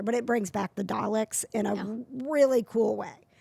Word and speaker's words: Dalek: Do you say Dalek or do you say Darlik? I say Dalek. You've heard people say it the other way, though, Yes. right? Yeah. Yeah. There's no R in it.